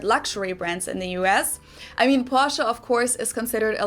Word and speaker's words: Porsche: Porsche. I already forgot how she pronounced it, but anyways, those 3 are definitely considered luxury.